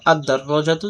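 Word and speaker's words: الدراجة: তো 13টি হরফের মধ্য থেকে একটা যদি হয় সেক্ষেত্রে আলিফ লাম যুক্ত হলে লাম উচ্চারণ হবে না, আর পরবর্তী হরফটা তাসদিদ যুক্ত রূপে উচ্চারিত হবে। তো আদ-দাররাজাতু সাইকেলটি।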